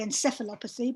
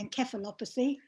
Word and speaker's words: encephalopathy: in the young encephalopathy i know the americans say encephalopathy but the brits say encephalopathy well that's relatively common